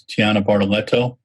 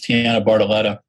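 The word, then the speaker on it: Tianna Bartoletta: talking over stuart uh my mispronouncing uh tina bartoletta's uh tiana barletta's name is tiana bartoletto sorry tiana it's tiana bartoletta and i will practice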